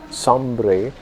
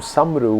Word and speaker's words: Sombre: She had an Indian name, but once she married this person who was called Sombre, she also became known as Begum Samru, which is sort of a mispronunciation of Sombre.